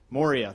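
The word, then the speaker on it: Maurya: day Ash M mama is that how you pronounce his last name Moria thank you sorry running lean uh is the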